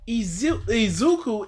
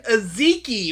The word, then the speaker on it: Izuku: Izuku is not a f***ing hard name. It's phonetically, you can look at It's one I. Why is he saying Aziki or whatever?